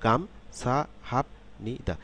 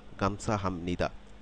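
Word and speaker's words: 감사합니다: শব্দটি তৈরি হয়েছে শব্দটি শব্দটির সিলেবেল গুলো আমি আলাদা আলাদা আলাদা আলাদা ভাবে যদি উচ্চারণ করি তাহলে এরকম হবে গাম সা হাত নি দা কিন্তু শব্দটি যদি যখন একত্রে আমরা উচ্চারণ করব শব্দটি যখন আমরা উচ্চারণ করব তখন আমরা নিশ্চয়ই সিলেবাল সিলেবেল সিলেবেল এভাবে উচ্চারণ করব না একসাথে উচ্চারণ করব যেমন এটার উচ্চারণটা তখন পরিবর্তিত হয়ে এরকম হবে গামছা হামনি খেয়াল করুন গামছা সাম নি গামছা হামনি গামছা হামনিদা আপনারা কি কোন তারতম্য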